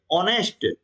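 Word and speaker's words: honest: देख रहे हैं कि जो ऑनेस्ट है इसमें ए क्या है ए साइलेंट है ए क्या है साइलेंट है इसका उच्चारण हो ही नहीं रहा है उच्चारण हो रहा है ओ से ऑनेस्ट ओके तो ओ क्या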